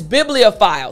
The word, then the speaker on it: bibliophile: So let me break down parts of this word to help you pronounce it properly. Again, the word is bibliophile. So bibliophile. It's a long word. Bibliophile, right? So let's focus on the first part of the word. Biblio. Biblio.